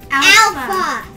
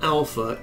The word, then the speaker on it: alpha: here to the right, it also corresponds to the use of the English letter A as in the use of the word father, ah. So a small A in English is ah, and a small alpha in Greek is ah.